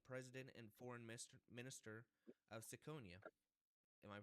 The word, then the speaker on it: Siconia: Today I have the president and foreign minister of Saconia. Am I pronouncing that right?